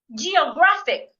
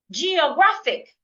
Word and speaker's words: geographic: Geographic. Geographic. I'm stressing the third syllable here.